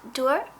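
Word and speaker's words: Duir: This color is called Dur, and it's spelled D-U-I-R.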